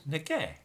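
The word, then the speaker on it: 那个: will instead say that that that which is pronounced as nega so instead of saying like and write a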